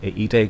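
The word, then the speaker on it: η: আমরা একটা vector sign আনলাম ইটা, এটা উচ্চারণ হচ্ছে ইটা।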